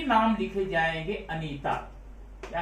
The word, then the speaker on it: Anitha: लेकिन south Indian language में इसको हम लिखेंगे ANITHA, अनीता। अब हम लिखेंगे THA, लेकिन उसको बोलेंगे अनीता, अनीता में THA।